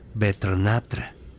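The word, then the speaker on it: Vetrnætr: Los pueblos nórdicos entre los años 700 y 11 después de Cristo celebrabannatra, pronunciado betrnatra, que significa literalmente noches de invierno.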